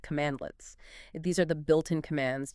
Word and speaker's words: cmdlets: The core building blocks are cmdlets, cmdls, pronounced commandletits.